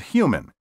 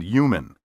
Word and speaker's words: human: Be sure to clearly pronounce the H in huge and human. Don't say huge and human.